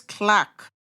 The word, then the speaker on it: clerk: Clerk is pronounced as clack.